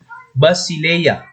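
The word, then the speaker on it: Βασιλεία: Selanjutnya ada e dengan e lemah, pengucapannya seperti kata Basileia, ya, ini Basileia atau kerajaan dalam bahasa Yunani.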